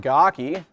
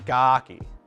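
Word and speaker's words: Gaaki: the movie norik pronounces It gawki I don't know gaki sounds cooler in my opinion so I'm gonna say gaki I don't even know if it sounds different to you guys sounds different to me there's there's two emphasis on the A's because g-a-a-k-i um so yeah vakama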